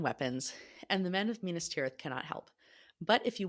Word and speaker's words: Minas Tirith: Minas Tirith. Minas Tirith.